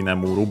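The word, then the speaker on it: 眠る: I think actually unaccented should be nemuru, but we'll check in a second. So then also this will become unaccented. But let's check. Nemuru means to sleep. Yeah, unaccented.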